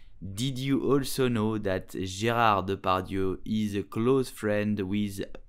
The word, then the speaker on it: Gérard Depardieu: So how do we pronounce his name correctly? We will say Gérard Depardieu, Gérard Depardieu, Gérard Depardieu.